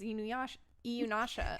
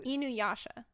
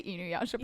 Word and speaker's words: Inuyasha: And in addition to that, pronunciation of character names, like I'm the one that thought that Inuyasha's name was Iyunasha.